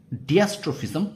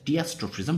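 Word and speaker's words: diastrophism: উত্তর হবে ডিয়াস্ট্রোফিজম, ঠিক আছে? ডিয়াস্ট্রোফিজম বা ডায়াস্ট্রোফিজম, যেভাবে তোমরা দুরকম উচ্চারণ করতে পারো, অ্যাকচুয়ালি এর উচ্চারণ হলো ডায়াস্ট্রোফিজম, ঠিক আছে?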